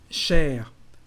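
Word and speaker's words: chère: Cher, to say dear, but also expensive, we've got the feminine form cher. Well, it's just for written French actually, because the pronunciation is exactly the same.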